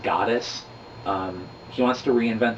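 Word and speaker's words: Godus: by Kickstarter called goddess it's g-o-d-u-s but it's pronounced goddess um he wants to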